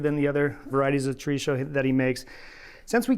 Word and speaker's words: chorizo: All right, now we're going to talk about chorizo, or as Dan pronounces it, chorizo. Oh. Yeah, it's a different pronunciation.